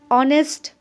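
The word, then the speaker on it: honest: नहीं करने वाले हैं it will be नोटिसड that the words ऑनेस्ट आवर and begin with Wavell sound as the initial consonant H इज not pronounced अब यहां कुछ ध्यान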